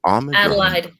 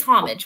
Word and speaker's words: Homage: problem with these ages is it ominous i'm talking about homage or is it oh homage it is homage with okay okay yes with the h on homage let's start with homage